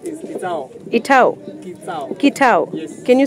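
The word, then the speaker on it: Kitsao: My name is Kitao. Itao. Kitao. Yes. Can you spell it? K-I-T-S-A-O. Oh, Kitao.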